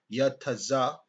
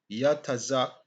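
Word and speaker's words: יצחק: Now, this Isaac, and it's Yatazak, Yatazak, um, the last part I pronounce Yatazak, basically Yatazak, right?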